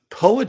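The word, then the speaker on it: Powhatan: PO poan war no he said it right poan yeah poan oh what's the first word though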